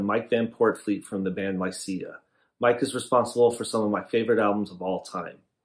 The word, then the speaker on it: Lycia: just Lycia in general, I call it Lycia. Is that how you pronounce it? That's exactly right.